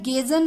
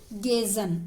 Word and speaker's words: Gezan: और अगर आपको इसमें कोई दिक्कत आती है तो मेरा चैनल है गेजन सक्सेस पॉइंट, मैं नाम लिख के बता देती हूँ, गेजन इस तरह से स्पेलिंग लिखी जाएगी, GEZAN, गेजन सक्सेस पॉइंट, इस नाम से चैनल है।